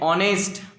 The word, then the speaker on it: honest: Okay, there are few words in English which begins with H, but the sound of H is silent. Yes, like honest, honesty, are.